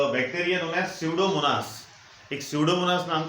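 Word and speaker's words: Pseudomonas: तो जहाँ भी ऐसे ऑयल पोल्यूटेंट्स या हाइड्रोकार्बन रहेंगे वहाँ पे स्यूडोमोनास, पी साइलेंट है वहाँ पे, स्यूडोमोनास नाम के बैक्टीरिया ऐड किए जाते हैं.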